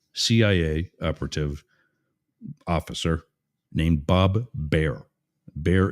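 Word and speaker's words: Baer: operative officer named Bob be bear is spelled b AE R I think like Brett Bear of Fox News three season series it's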